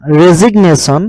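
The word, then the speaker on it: resignation: সাইলেন্ট ৰাখিছিলো SIGN সাইন কিন্তু এইটো যিটো সাইলেন্ট ৰাখিব নোৱাৰিম এইকেইটা ৱৰ্ডত কিন্তু আমি ক'ব লাগিব সেইকাৰণে ৰেজিগনেশ্যন ঠিক তেনেকে ডেজিগনেশ্যন সিগনেচাৰ এইটো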